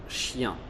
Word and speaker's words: chien: La seconda situazione è per IEN, IEN, che non fa ian, ma yan. Yan, yan. J'aime bien ton chien.